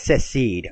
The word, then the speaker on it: secede: It's secede.